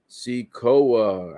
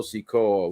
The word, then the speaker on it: Sikoa: it looks like solo seekoa i pronounced his name wrong earlier it's solo sikoa what did i say